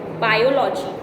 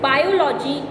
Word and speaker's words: biology: Biology. Students, biology is not the right pronunciation. The right pronunciation is biology.